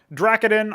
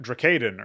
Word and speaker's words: Dracadin: well we got zealot dracodin i can understand people may be mispronouncing this like dracadin or something uh initially but that's fine um ecclesias is pretty